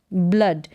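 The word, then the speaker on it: blood: ब्ल अड, ब्लड, यानी डबल ओ को अ प्रोनाउंस करेंगे और डी को ड, ब्लड।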